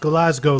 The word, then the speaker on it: Glasgow: next week in glasgo it's pronounced glasgo ladies and gentlemen Kevin